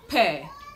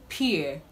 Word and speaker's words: peer: grade or now this word is commonly pronounced per as in per pressure but the right to pronounce this word is peer peer pressure now before i go